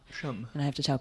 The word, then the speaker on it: Shum: I mean, yeah, I get like Shum all the time, but it's Shum. Shum. And I have to tell people, no, it's Shum, rhymes with bum.